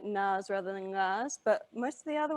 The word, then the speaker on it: ngā: So for the ngā, your tongue should be right at the back, going up, touching the back of your mouth. Whereas with a na without the G, it's the front of your mouth that your tongue touches. So na, ngā.